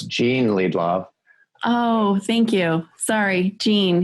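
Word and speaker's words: Jean Liedloff: back I have to correct you though it's Jean Lee Bob oh thank you sorry Jean yes and I've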